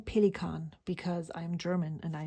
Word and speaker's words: Pelikan: for the pelicon m800 and I am saying pelicon because I'm German and I know how to pronounce that word it actually isn't called pelicin well that is what you would say if